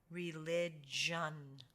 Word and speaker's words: religion: When you see the G and the I together, like you do here, it's taking the soft G sound, which is J, just like a letter J. J. religion, religion, religion.